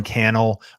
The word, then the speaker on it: Cannell: Sean Cannell, Rhymes with YouTube channel.